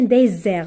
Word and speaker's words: désert: Z c'est comme un désert regardez s entre deux voyelles entre deux voyelles ça se prononce Z rappelez-vous très bien cette